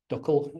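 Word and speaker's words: DCQL: Um the big addition in that was the new query language uh the digital credentials query language or duckle as it's pronounced that is a replacement for presentation exchange basically.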